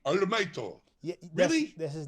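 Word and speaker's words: オールマイト: So in Japanese pronunciation it's called All Mighto, right? You mean to tell me? You swear to God, the guy's name is actually Arumaito.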